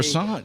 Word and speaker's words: croissant: and Gordy just say croissant here. Croissant. You think? doesn't exist. Croissant. Yeah. The T at the end of croissant Okay. is It's gonna be silent.